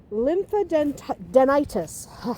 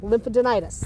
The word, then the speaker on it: lymphadenitis: to talk about casus lymphaden denitis I always say it wrong lympha denitis there we go but uh this one